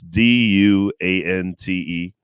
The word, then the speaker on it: Duante: It's spelled all fucked up though. It's Duante. So I get everything from Duante to Duante. I even get Dwayne every once in a while, like the T silent and shit.